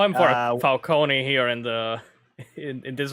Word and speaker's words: Falcone: they call him for falcone here in the in this version and apparently it's it's falcone not for kony it's how it's i mean it sounds more italian yeah i know but